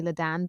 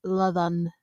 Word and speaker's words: Ladan: I'm used to people mispronouncing my name. Most people call me Ladan, but I think somewhere for posterity, I want my name to be pronounced correctly. It's Ladan.